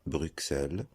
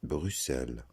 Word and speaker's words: Bruxelles: On ne dit pas Bruxelles, on dit Bruxelles.